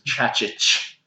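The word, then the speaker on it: Čačić: The C thing you just pronounce like CH. Yeah. So I'll try and pronounce the Croatian manager's name is Chacic.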